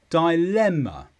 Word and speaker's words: dilemma: is a noun and the stress is on Le dilemma and this is a